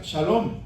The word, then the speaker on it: Salom: En inglés se pronuncia Shalom, pero en español no tenemos la S y la H como una letra que se pronuncian. Tenemos la CH, pero no SH. Entonces es Jehová Salom en español.